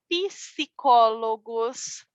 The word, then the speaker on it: psicólogos: cozinheiro, os arquitetos, os psicólogos. Lembram? Sempre que eu digo lembram, é como se acuerdam, ok? Lembram da pronúncia pi, psicólogos. Isso é bem importante. Letra P, sim vocal, colocamos um i na pronúncia.